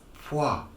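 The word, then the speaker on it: Poirot: of you Americans say parole parole it's plural like mwah m-o-i in French is moi but it's it's a guy is poi there's a w in the pronunciation it's an invisible W yeah there you go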